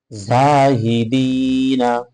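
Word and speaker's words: زاهدين: দি নুন জবর না জাহিদিনা জাহিদিনা জাহিদিনা উচ্চারণটা যদি আমরা দেখি জাহিদিন জাহিদিন অবশ্যই গালিয়া যেদি এখানে আমরা তিন আলিফ পরিমাণ কমপক্ষে টান দিব এবং লাস্টে আমরা যে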